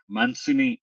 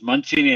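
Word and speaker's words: Mancini: He's a co-founder and managing director at Mansini Enterprises. I hope I'm pronouncing it right. It's Manchini or Mansini Neils. Um Manini Manchini. So it's Manchini Enterprises.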